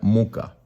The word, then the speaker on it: Mucha: una variación de muca se escribe mucha pero se pronuncia muca aquí pueden ver como